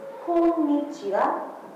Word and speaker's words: konnichiwa: Make sure that there's kind of an extra N, and if you pronounce that N properly, then that's kind of what separates you from someone who can actually pronounce Japanese and someone who can't.